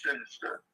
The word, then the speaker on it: Sinister: He don't like me calling him that. I keep forgetting not to pronounce his name like that. His name is Sinister.